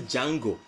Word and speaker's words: Django: The original Django is in the movie. The dude that came over to him and said, how do you spell your name? Then he said DJ something, the DJ is silent.